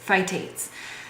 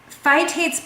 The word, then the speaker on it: phytates: You know, the pronunciation. Phytic acid is what's in these food in these specific foods, phytates.